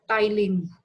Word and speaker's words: ptyalin: It is that salivary amylase has a special name called ptyalin. P-T-Y-L-I-N. P-T-Y-L-I-N. Ptyalin. P is silent.